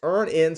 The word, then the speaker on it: EarnIn: That's Earn In spelled like earning money without the G.